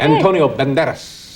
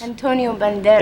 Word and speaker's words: Antonio Banderas: Antonio Banderas. Antonio Banderas.